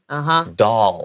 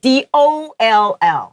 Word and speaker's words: doll: Doll. 对 D-O-L-L. Yeah. 虽然那是 O-L-L 等会念法有点像 all 全部的那个 all 所以它是 doll. And you still see my tongue comes out and meets the front teeth.